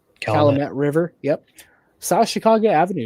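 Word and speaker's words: Calumet River: Um as it crosses um the uh Colt River, if I butchered that, I apologize. Calamett River.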